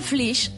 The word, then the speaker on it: Flix: La localitat de Flix es pronuncia com guix, no com fix.